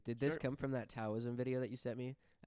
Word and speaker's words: Taoism: Yeah, it's not Taoism, it's Taoism. Taoism. The Dow Jones.